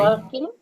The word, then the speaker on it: walking: Nah, cara baca walking ini L-nya sama seperti di T di listening, tidak dibaca. Jadi walking, cuman agak panjang. Walking.